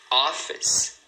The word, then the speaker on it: office: Duas sílabas. Notice. Notice. Office.